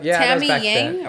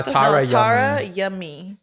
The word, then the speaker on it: Tara Yummy: Nah, it's like Tammy Yang. Nah, Tara Yummy. Tara Yummy. Yeah. Literally the way it sounds. That's how it's spelled.